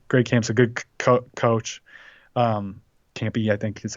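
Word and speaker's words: Kampe: Campy, I think is how you say it.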